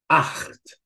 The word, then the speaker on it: acht: So, ach, acht, nacht.